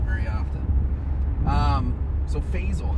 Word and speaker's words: Faisal: Faisal. It's supposed to be pronounced Faisal, but my dad, he's not Arabic, so he doesn't pronounce it the original way.